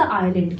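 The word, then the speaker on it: island: को डूबने वाला था इसमें आई लैंड में एस लेटर साइलेंट है तो आप कहेंगे आयरलैंड ना की आइसलैंड आई ऍम सर आपको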